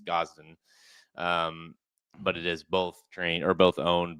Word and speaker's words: Gosden: It's not Aiden, it's Gosden.